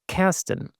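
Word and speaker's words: Karsten: Um the reason for that is is that actually originally in Germany where I hail from originally um my name is pronounced Casten.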